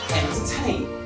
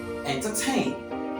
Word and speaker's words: entertain: you understand Number Two magazine magazine which is pronounce the word as magazine number three Entertain Entertain number four engineer engineer number five interrupt interrupts